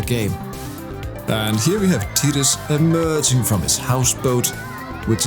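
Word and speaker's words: Tidus: maths debates with people either calling him tiris or titus and now it has of course been confirmed that titus is the official pronunciation which is more in line with his japanese name tita so in japanese there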